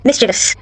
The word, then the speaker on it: mischievous: In comparison to the proper pronunciation which is mischievous.